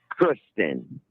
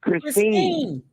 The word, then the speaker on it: Christine: know, having sex with Kristen. You You didn't even say your name, right? didn't say her name right. You kept saying Kristen and her name's Christine.